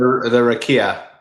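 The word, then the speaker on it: רקיע: It's so he calls the raki the sorry how would you pronounce it? The rakia rakia sorry the rakia he calls shmayam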